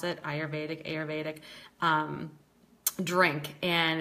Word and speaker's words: Ayurvedic: but it's an Ayurvedic that's the way you pronounce it Ayurvedic Ayurvedic drink and it's best done before bed